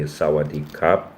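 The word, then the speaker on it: สวัสดีครับ: It's uh so if you're a man, you say sawadop or it's like k h r a p but the r is not really pronounced.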